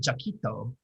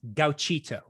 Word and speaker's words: Gauchito: the 40s all right the story the flying jacquito can be found in what package film it's gauchito sorry the flying cheeto in italian i always